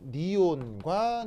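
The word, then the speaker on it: neon: 바로 니온과 니온 사이의 위치 에너지 그래프죠. 왜 니온이라고 해요? 발음이 니온이니까요.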